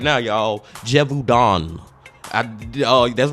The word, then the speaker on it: Gévaudan: I think I'm saying it right now, y'all, Gévaudan.